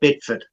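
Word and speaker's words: Bideford: North Devon in uh is it bidfood or bad food I would I think it's pronounced bidford depends what's part of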